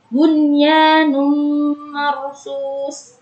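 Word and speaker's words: بُنْيَانٌ مَرْصُوصٌ: Yaitu dihukumi dengan idgham bi gunnah. Kenapa? Karena apabila ada nun sukun bertemu dengan huruf ya, nun, mim, wawu, berarti itu termasuk hukum idgham bi gunnah. Dan cara membacanya yaitu dengan memasukkan dengan mendengung.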